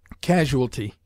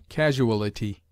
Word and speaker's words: casualty: of quote Gould Brown casualty this word is often heard with the incorrect addition of a syllable casuality which is not recognized by the lexicographers some writers object to